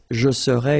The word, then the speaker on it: serais: Remember, so AIS, but then you don't pronounce the final S. Je serai.